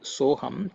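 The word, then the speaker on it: सोऽहम्: The two syllables so hum, which together constitute the word soham, convey the meaning I am Brahman.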